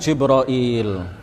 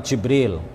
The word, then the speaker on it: Jibril: bisa juga kita mengatakan jibroil Iya bisa juga kita mengatakan jabril atau Jibril atau jibroil atau ada ada juga